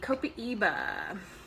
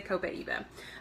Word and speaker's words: Copaiba: Let's see, Copaiba. Okay, so Copaiba, I think, Copaiba. This one is debated on how you pronounce it. I say Copaiba.